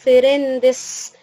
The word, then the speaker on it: friends: خلي بالك من النطق بتاع friends، انا قلت friends مش friends، غلط النطق ده، بنقول friends friends friends.